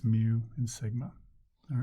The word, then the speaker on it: mu: the left here mu it's spelled mu but it sounds like this it sounds like mu the population standard deviation